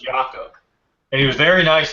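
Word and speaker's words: Jakob: in an interview and they said you know Jacob and he said um no it's it's pronounced yakob and he was very nice about it but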